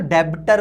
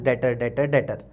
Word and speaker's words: debtor: लेकिन डेटर जब मैं लिखता हूँ DEBTOR, तो ये जो बी है ये साइलेंट है, इसलिए अपन मैं इसको बार बार डेटर बोलता हूँ, DETOR वाला डेटर, ठीक